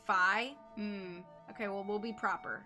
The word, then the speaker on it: Fi: it is meant to according to nintendo rhyme with hi so it should be phi okay well we'll be proper and we'll call her five okay i was going